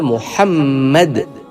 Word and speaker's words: محمد: الف ہے میم دال۔ وہ احمد نہیں ہے، وہ احمد بھی نہیں ہے، وہ ہے احمد۔ اسی طرح نام محمد نہیں ہے، نام ہے محمد۔ اچھا، اسی طرح مسئلے